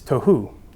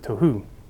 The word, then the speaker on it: tohu: So unformed and void, and that is tohu. That's how you pronounce it, tohu.